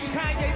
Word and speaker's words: Kanye: All I need is y'all to pronounce my name. Kanye, but some of my blacks, they still say Kane.